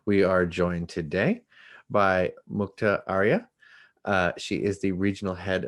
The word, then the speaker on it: Mukta Arya: We are joined today by Mukta Arya.